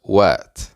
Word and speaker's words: what: La T de what se va a convertir en una R. Vas a sonar como una R.